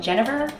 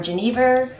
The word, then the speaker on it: genever: we're going to add some jennifer or genever or yeniver all the same different pronunciations it's essentially gin uh